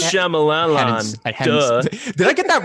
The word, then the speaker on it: Shyamalan: It's pronounced Shyamalan.